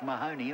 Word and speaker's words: Mahoney: years ago called jock Mahoney and was spelled exactly the same way and they pronounced it Mahoney exact so banry line